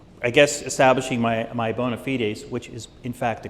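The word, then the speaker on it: bona fides: Um, so, uh, I want to, this is, uh, I guess establishing my my bonafitedes, which is in fact the correct pronunciation of that term.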